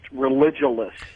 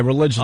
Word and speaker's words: Religulous: It's religulous. And they're going off ridiculous.